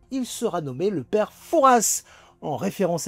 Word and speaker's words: Fouras: Il sera nommé le père Fouras en référence à la ville de Foura, sur la côte dont on ne prononce pas le S.